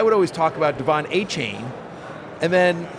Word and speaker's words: Achane: Devon Achane, and then it came out that you preferred to be your last name pronounced Achane, and so I was curious about that. By the way, one of my producers calls you Achane. We never heard that one before.